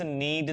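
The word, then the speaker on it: knead: फिर है आटा गूंद दो जरा, प्लीज नीड द डो। अच्छा, ध्यान क्या रखेंगे, यहां पर के साइलेंट होता है तो नहीं बोलते हैं, इसको नीड कहते हैं और इसको कहते हैं डो।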